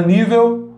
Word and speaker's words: nível: Nível. O I alongou, né? Então é a sílaba tônica.